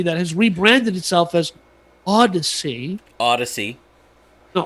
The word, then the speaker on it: Audacy: which a new company, which is an old company that has rebranded itself as Audacy. Audacy. No, Audacy. Audacy. Like Odyssey, like Honda Odyssey, but it's spelled stupidly.